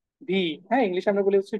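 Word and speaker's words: We: কে বলে হচ্ছে কি ভি হ্যাঁ ইংলিশে আমরা বলি হচ্ছে ভি তারা বলে হচ্ছে ফাও এন্ড সেইম ভাবে দেখেন যেটাকে হচ্ছে আমরা ডাব্লিউ বলি ইংলিশে সেটাকে তারা বলতেছে ভে ভে ভে ওকে ভে এই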